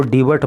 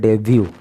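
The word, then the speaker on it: debut: Focus करना मेरे दोस्तों, इसको डीबट मत पढ़ने बोल देना धोखे में। डीबट बोल दिया तो सारी कहानी ही उलट पुलट हो जाएगी। इसको बोलते हैं डेब्यू, इसका जो प्रोनाउंसिएशन है वो है डेब्यू, और हिंदी अर्थ होता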